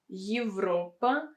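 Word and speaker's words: Европа: but in these examples yevra and europa evra europa you can see that they are pronounced a bit different yes here you have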